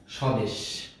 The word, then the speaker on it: স্বদেশ: শুরুতে যখন বফলা থাকবে তখন সেই বফলার উচ্চারণ হবে না, সেই বটির উচ্চারণ। যেমন স্বদেশ, স্বদেশ উচ্চারণটি স্বাভাবিকভাবেই স্বদেশ হবে, স্বাভাবিক। ধ্বনি, শ্বাস, তাহলে আমরা দেখতে পাচ্ছি যে বফলার কোনো উচ্চারণ এখানে হচ্ছে না।